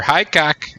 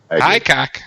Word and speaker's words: Hickok: I keep hearing that pronounced Hickok in other podcasts. Yeah, no, they're wrong. They're just wrong. High cock. That's the way it is.